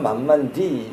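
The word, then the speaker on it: 慢慢地: 그 중국 사람들이 만만대라고 해요. 그럼 중국 발음으로는 만만디 이렇게 하는데 이게 참 우리 필요한 거예요, 만만디.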